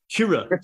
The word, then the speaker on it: Kyrö: I'm pronouncing it as Kyrö. So, right? Yeah. Kyrö. So, you know, hey, look, I'm from Philly, man. It's Kyrö, right? But Kyrö. And, you know, so we pronounce it as it's written.